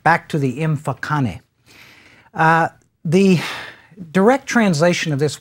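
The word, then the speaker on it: Mfecane: scholars as the so-called imfokane. Actually, if I were to pronounce that correctly, it would be something close. I'm only going to try this once. To imfokane. There would be a clicking sound there, and again, as is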